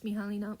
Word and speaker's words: Mihalina: Editing, Mihalina here. Oh my god, I mispronounced my own name. It's Mihalina, whatever.